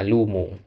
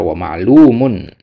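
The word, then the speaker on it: معلومٌ: Yang dibaca wlumu ya yang benar wlumun.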